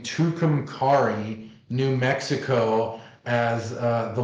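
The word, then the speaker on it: Tucumcari: to butcher the name tukum Cari New Mexico as uh the location for Art City yeah um well tucum Cary is how you say it there's the there's a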